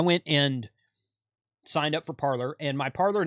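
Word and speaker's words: Parler: and it was cre parlor was created I'm pronouncing it like it's spelled p a r l e r um it was created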